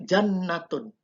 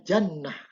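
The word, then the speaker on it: جنة: Contohnya aslinya kalau kita tidak mensukunkan tak marbutohnya maka dibaca jannatun. Ya, tapi karena kalau dimasukkan sukun maka dibacanya jannah.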